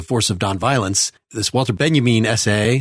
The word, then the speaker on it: Benjamin: Kirk put the force of non-violence this Walter benjamine essay spelled Benjamin pronounced benjamine was I believe the first thing that she